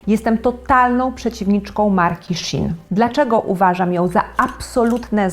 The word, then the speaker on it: Shein: 2008 w Chinach powstaje Marka Shin Pewnie jesteście zdziwieni ale to jest prawidłowa wymowa nazwy tej marki szybko staje się gigantem który